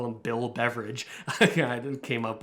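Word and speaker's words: Beveridge: uh interesting concept and it's called the the beverage curve and that's not like beverage like you're having a pop it's spelled a little bit differently beverages after um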